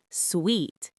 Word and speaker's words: suite: Suite, pronounced like sweet, a larger room with a separate living area.